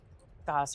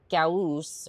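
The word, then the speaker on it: Gauss: That one usually has Goss rifles. Something that I can or Gaus rifle if you want to pronounce it properly.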